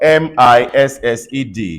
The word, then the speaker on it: missed: right let's talk about m-i-s-s-e-d see I missed you I miss you missed you won't know or you can't imagine that this word has the same pronunciation as m i s t the same pronunciation